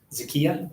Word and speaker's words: Zakia: Zakyia, that's how you say it.